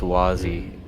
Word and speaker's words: Wazzeh: He said it was pronounced Wazzeh. He commented. Wazzeh, okay. The H is silent, you pleb. Yeah, well, It's French.